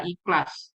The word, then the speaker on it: Ikhlas: Namun nama resminya aplikasi yang terbaru ini adalah Ikhlas atau Electronic Classification. Bacanya ya ikhlas, kayak kita melafalkan surat Al-Ikhlas gitu ya.